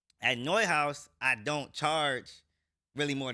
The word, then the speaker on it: Neuhaus: Like is it, how do you pronounce Neuhaus? It's called Neuhaus. Neuhaus, and then it's Grandmasters, then it's like, it's